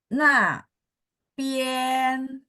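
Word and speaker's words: 那边: 那边， Oke, mungkin kalau ditambahin R, Ibu agak susah. Kalau gitu kita bacanya gini aja. Nah, pien. 那边， Oh, tetap naik nada 2.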